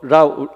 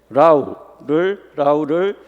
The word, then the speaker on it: LAU: 그다음에 그 라우 이제 LAU라고 읽어야 되는데 그냥 라우라고 읽겠습니다.